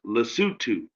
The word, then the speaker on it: Lesotho: From what I heard, it's pronounced Lesotho.